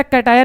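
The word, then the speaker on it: cation: chemistry में plus वाले को क्या बोलते हैं कटाय बोलते हैं क्या बोलेंगे मैं स्पेलिंग और अच्छे से लिखता हूं कटाय बोलते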